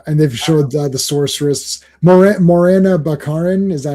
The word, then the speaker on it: Morena Baccarin: So Yeah, and they've showed the sorceress Morena Baccarin.